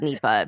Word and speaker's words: Nipah: I was just thinking I'm just going to call it NEPA because I just I looked it up. It's weird. Yes, because we always mispronounce So, I looked it up and it was Nepa.